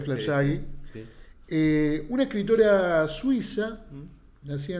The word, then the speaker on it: Fleur Jaeggy: Creo que se pronuncia Flaggi.